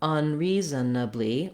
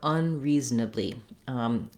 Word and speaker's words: unreasonably: So to clarify and to repeat, either unreasonably or unreasonably. Ultimately, when I'm speaking, I don't want a lot of length on this syllable. So even if I make a syllable there, unreasonably, reasonably, no. You can hear how the zanably, zanably is really quick.